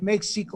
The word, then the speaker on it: México: Prójimo es lo mismo que próximo, únicamente que en un tiempo en castellano la X se pronunciaba J y ahora se escribe México o México y da lo mismo.